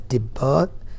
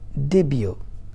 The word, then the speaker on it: debut: people read it as debuted but the real word is debut okay first time when somebody is doing something we call it as the debut so the t is silent there kindly know that yes